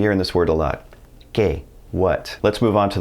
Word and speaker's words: que: It's going to be pronounced like a K in English, and it's always going to be followed by a silent U. Here's an example. Que.